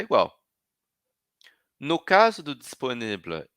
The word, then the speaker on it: disponible: Eu vou só até o L. Disponible, disponible. calme, calme. Vou até a última consoante.